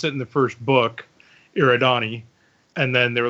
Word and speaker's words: Eridani: book you listen to because if you're listening to the first book he pronounces it your Adani yeah and in the second and third book it's a written e yeah okay wait I